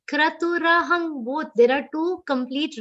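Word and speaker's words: क्रतुरहम्: Kra, it's not kru. Okay, ka half, ra is complete. Kratu rahang, both.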